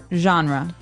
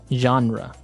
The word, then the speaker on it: genre: We say genre. Genre. Word. Genre. This kind of sounds French.